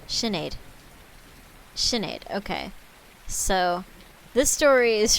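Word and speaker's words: Sinéad: pronounce that signed pronunciation uh how do you pronounce the irish name sinead it's shinid sinead shinaid okay so this story is from sinead de valera uh who lived from 1889 to 1974.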